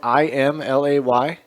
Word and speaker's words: Imlay: Imlay City is spelled IMLAY. Yes. That's not how you spell Emily.